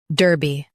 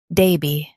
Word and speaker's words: Derby: Daby. Now, read the syllables of British pronunciation shown on the screen naturally. Da. Bee. Daby. Da. Bee. Daby. In US, stress der. In UK, stress da. Derby. Daby.